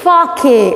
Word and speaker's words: sake: Okay, see, the spelling is S-A-K-E, but when you are pronouncing it, S-A should sound like fa, okay, fa in the word father, and K-E should be rhyming with the word way, way. So, when S-A sounds like fa and K-E rhymes with way, it will be Fake?